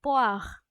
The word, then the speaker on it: poire: So apple in French it's pronounced as pomme, and pear in French is pronounced as poire, and banana is in French it's pronounced as banane, and a strawberry in French it's pronounced as fraise.